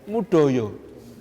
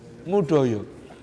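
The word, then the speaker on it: Moedojo: Soalnya tulisan namanya itu, ejaan lama, Moe Dojo. Tulisannya Moe Dojo. Bacanya Mudoyo. Mudoyo.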